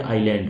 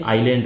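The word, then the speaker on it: island: अब यहाँ पे ना ये साइलेंट होता है बच्चों, एस का मतलब साइलेंट, है ना, समझाने का तरीका है, इसका मतलब साइलेंट नहीं है, बट ये यहाँ पे साइलेंट है, तो इसलिए ये आइलैंड हो गया आपका, ठीक है।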